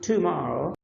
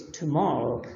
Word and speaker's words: tomorrow: It's not yesterday, it's yesterday, the very first one, but this one is actually not tomorrow, it's tomorrow, so it's in the second.